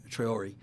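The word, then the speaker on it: Traoré: Traore? Yeah, Traore.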